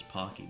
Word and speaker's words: Pocky: It's probably actually more like pokey. I actually heard a Japanese person say it's spelled like pokey. Everybody in the west says pocky though.